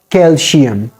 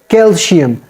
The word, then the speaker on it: calcium: like calcium not calcium the sounds of C should be maintained it should not be replaced with SH sound sh sound it should